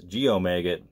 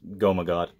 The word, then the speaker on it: Goemagot: Alright, next we have the debut album and only album from Goemagot, who I used to pronounce Geomagot, but it's Goemagot.